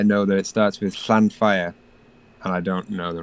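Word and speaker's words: Llanfair: and read it because it starts with a double L, which is its own letter in Welsh.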